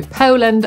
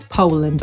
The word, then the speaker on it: Poland: Brytyjczyk powie Poland, Amerykanin Poland.